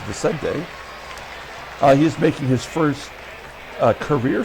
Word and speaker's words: Vicente: Okay, Vicente Palacios, you'll see they got his name wrong on his card. They got Vicente, but it's not it. It's Vicente.